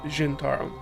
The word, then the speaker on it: Zhentarim: something like Forgotten Realms Zhentarim. The Zhentarim. Or Zent, or however you want to say it. I think it's Zhentarim, though, is the appropriate pronunciation.